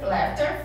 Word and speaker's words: laughter: Laughter, laughter, fills the air. Então a pronúncia aqui, gente, é GH com som de F.